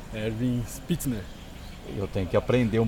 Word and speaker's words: Spitzner: Ervin Pitzmer.